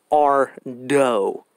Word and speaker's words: Ardo: Because a lot of people were saying, like, are you saying Arto or Ardo? I'm saying Ardo. You know, the dough, the cookie dough.